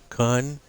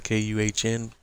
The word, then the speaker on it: Kuhn: And this is the Kun, and I'm saying it that way so that I don't get gigged by YouTube. But this is not the correct pronunciation. It's the KUHN brand, and we will leave it with the